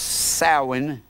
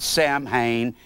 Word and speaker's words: Samhain: and it was called sa M Haan it's pronounced soin some people will pronounce it Samhain that is the festival that the Roman Catholics